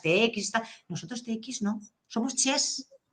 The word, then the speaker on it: xe: Ellos lo ponen con X. Y esa no es nuestra pronunciación, porque, por ejemplo, Játiva en valenciano es con X al principio. Y esa pronunciación es Xàtiva. O sea, si hiciéramos caso a los catalanes que dicen che con X, tendríamos que decir xe.